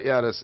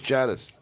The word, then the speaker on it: Yiannis: It's not Yiannis. It's Janice. The J is heavily pronounced.